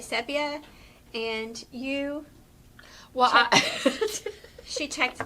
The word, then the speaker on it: sepia: So we're saying the word sepia, but some people say sepia. And you, well, she checked this. in about 30 seconds of research. Yeah, so it apparently is pronounced sepia.